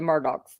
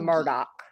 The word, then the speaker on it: Murdaugh: how do we pronounce Murdoch then your boat pulls up to a dock yep I said dick